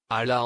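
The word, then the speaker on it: Hala: Or, Ala en français, on ne prononce pas le H et quand je suis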